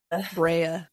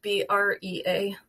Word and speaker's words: Brea: Brea. But yeah, probably spelled the same. B-R-E-A.